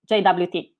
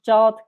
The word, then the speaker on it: JWT: short less formal tokens however in today's talk i will pronounce it as jwt why i'm not a native speaker so i'm not sure whether i pronounce jot clearly enough plus from my experience majority of developers are used to jwt pronunciation so json web token